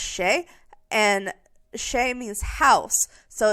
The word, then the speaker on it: chez: But it became my online name because if you take the name CHZ in French, I believe it's pronounced she and Sheay means house.